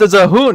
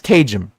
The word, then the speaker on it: Cajun: The one fucking time I tried to be like, oh, maybe it's pronounced as a hoon. You know, maybe the J is... No, it's fucking... I was wrong. It's Cajun.